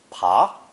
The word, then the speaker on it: 爬: When the downturned hand radical is given the pa phonetic, it's pronounced pa and means to crawl or climb.